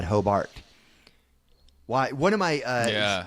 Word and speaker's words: Hobart: But this town is spelled Hobart. H O B A R T. Mhm. And right when you got there, as soon as somebody said that, no, you're not local. It's Hobart.